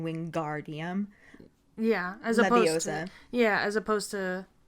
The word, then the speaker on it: Wingardium: she tells him to make the gar nice and long in wingardium yeah yeah as opposed